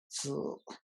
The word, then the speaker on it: Sil: I know sometimes it's a hard vowel to pronounce. So here we go. Sil. And if you guys remember on the pronunciation brackets, we have the E hat, which means that it is creaky, okay?